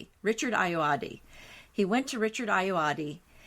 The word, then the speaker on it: Ayoade: And the writer who came up with this show said, I went to the actor Richard, it's a little funny pronunciation, Richard Ayoade.